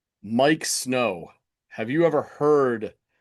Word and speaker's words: Miike: Well, the band goes out of the way to emphasize that it is pronounced Mike or else I would be like, "Yeah, maybe that is how you pronounce it."